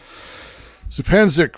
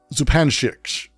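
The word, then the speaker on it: Zupančič: Oh, yes. Zupanchik. I will never be able to... I feel terrible. Because I've mispronounced her name literally forever. And someone corrected me on it finally, which is embarrassing after years of saying it the wrong way.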